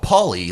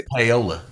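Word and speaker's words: Paoli: like Miami like Miami Florida right yeah they pronounce it miam Miama miam and there's city called paully like p a o l i you say paully right no that's poola poola that's poola Oklahoma that's I think you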